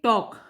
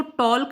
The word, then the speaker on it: talk: Next question देखिए, टॉक, TALK, हम इसको टॉल्क नहीं बोलते, हम इसको टॉक बोलते हैं। तो इस वर्ड में हो गया L साइलेंट।